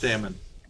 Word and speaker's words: Thamin: Thamin. Thamin. Yeah. We're going this way. It's here in New Tristram. Rhymes with famine or jammin.